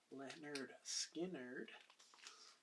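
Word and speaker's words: Lynyrd Skynyrd: it has my favorite songs and that is pronounced Leonard Skynyrd this is also still in print this is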